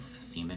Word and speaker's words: Seaman: cartoon television writer and yes siemen is how you say my last name and yes middle school